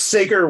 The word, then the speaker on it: Sager: Is it Sager? It's Sager. It's the world's weirdest name to pronounce, yes.